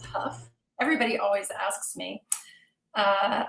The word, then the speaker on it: Hough: all i'll tell you my last name is pronounced puff everybody always asks me